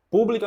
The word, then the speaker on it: pública: o li que forte pública a mesma coisa é o pu que é a sílaba forte a sílaba tônica que demanda mais força na hora de falar Public você não fala